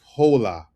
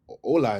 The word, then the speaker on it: hola: I be seeing a lot of my English speakers say hola. And I just want to, you know, it's not hol, right? In Spanish, H is silent.